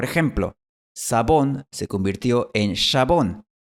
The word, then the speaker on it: jabón: Así que estas 3 palabras dejaron de pronunciarse Mexico, chabón y tijeras y empezaron a pronunciarse México, jabón y tijeras.